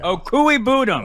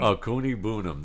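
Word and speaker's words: Okwuegbunam: a – to me, he's more like Albert Ogwabunam, right now at this level of his We call game. him Albert O. Albert O, yeah. I forgot how to pronounce his last name. Sorry. Okuigbunam. Okuigbunam.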